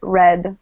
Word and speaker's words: read: If this is past, we pronounce it red like the color red.